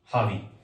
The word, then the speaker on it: ravi: ठीक है, हावी, इसको प्रोनाउंस करेंगे हावी.